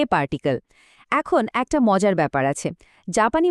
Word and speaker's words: へ: কিন্তু যখন এটা বাক্যের মধ্যে দিক বোঝানোর জন্য বসে, তখন কিন্তু এর উচ্চারণটা পাল্টে গিয়ে এ হয়ে যায়।